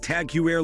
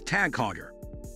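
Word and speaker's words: TAG Heuer: That said, the majority of folks cannot pronounce the name correctly, pronouncing it Tag-hew-air largely because it is a Dutch or German name, not an English one. See the issue here? People are trying to pronounce a Dutch name like an English name, which is outrageous. The correct pronunciation is Tag-haw-yer.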